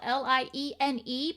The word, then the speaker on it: Liene: It is spelled Liene, but the N is silent.